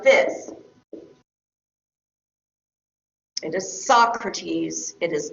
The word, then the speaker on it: Socrates: It is Socrates, it is not Socrates. Right? So be careful about the pronunciation of the names of your sources.